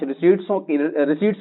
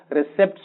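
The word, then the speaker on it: receipts: एक cash रिसीट्स कहलाएंगे, जिसको आमतौर पर बच्चे कैश रिसिप्ट्स पढ़ते हैं, गलत पढ़ते हैं, सही प्रोनाउंसिएशन इसका क्या है, कैश रिसीट्स।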